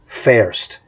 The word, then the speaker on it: Fürst: That's how you properly pronounce his name. The V's in German are pronounced like F's. Gustav von Fürst. So there's three F sounds there, not V's. If you want a V sound in German, they use a W.